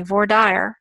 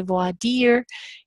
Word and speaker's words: voir dire: So if the attorneys in that particular market, say Vaudreuil, even if you are a native French speaker and find it ridiculous that you're saying Vaudreuil, guess what? You say Vaudreuil. That's what the judge is used to hearing. That's what he knows. And then when you go to New York City into a courtroom there, or Chicago or LA, and they say voir dire, you're going to say voir dire.